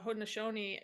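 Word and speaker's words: Haudenosaunee: pronunciation of those letters when in uh hodnishoni it's actually pronounced so it sounds completely different than to Warrenton there's no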